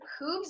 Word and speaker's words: Whooves: Peter's comic books are Soundwaves, The Supremacy, and Doctor Who's. Is that how you say it? Yes. Yeah. Okay. It's a blend of who and hooves.